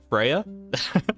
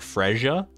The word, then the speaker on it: Freya: the first people that don't pronounce my name wrong Freya do people say like Fria or something like that I